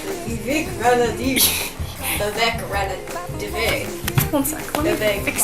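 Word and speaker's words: Vivek Ranadivé: Say his name like Vivek Ranadive.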